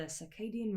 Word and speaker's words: circadian: I definitely pronounced that wrong. I'm pretty sure I used to say like cardigan. I might be. No. I think I said that wrong. Circadian. Because I didn't even say enough syllables.